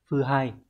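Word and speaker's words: 腐敗: Các bạn thấy phần gạch chân Hán tự là chữ hủ và chữ bại, như vậy sẽ đọc là phư hai.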